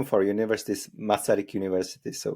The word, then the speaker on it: Masaryk: it's our the name of our University is masarik University so it's like it's really simple fortunately